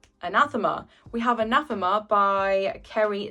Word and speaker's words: Anathema: So first up we have Anathema. That's not how you pronounce it. Anathema.